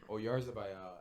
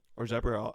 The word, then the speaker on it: Oyarzabal: Or Zabriel, I don't know how to say his last name, but whatever you just said. That's how you say it.